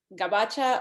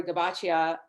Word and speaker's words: Gabaccia: right like it is it can be pronounced the italian way and it could be i gabacha or gabachia i i respond to